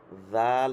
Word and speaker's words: ذال: জাল হচ্ছে একদম নরম মৃদু, শব্দটা মৃদু, বাতাস বের হবে, জাল।